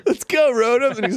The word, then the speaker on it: Rotom: Pronounce it like Rotom. Yeah. That's exactly right.